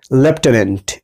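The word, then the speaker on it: lieutenant: Number 2 যে শব্দটি রয়েছে দেখো লেফটেন্যান্ট, এইটার উচ্চারণ কি হচ্ছে লেফটেন্যান্ট।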